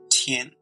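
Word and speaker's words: 天: Its Old Chinese pronunciation is Klin, and its Middle Chinese pronunciation is Tian.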